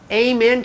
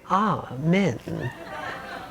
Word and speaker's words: amen: words here don't you amen to that sister Abed what does that mean amen Oh amen you say Amen you do I say Oh men you say Amen I